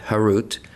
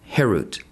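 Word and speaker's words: חרות: Do not pronounce it carved, harut, but rather freedom, herut, to show that they are freed from the angel of death.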